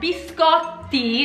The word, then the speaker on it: biscotti: Pucci cookies cat can coochie and the Scott biscotti is the correct pronunciation because there are those two teas biscotti